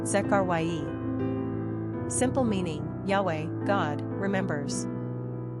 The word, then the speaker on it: Zechariah: Pronunciation, Zekharyah.